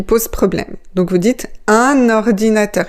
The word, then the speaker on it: un ordinateur: Donc, vous dites, "Un ordinateur." Il faut bien prononcer "un" et pas "une". C'est très important, ça aussi, la prononciation. "Un ordinateur." Faites la liaison dans la deuxième syllabe.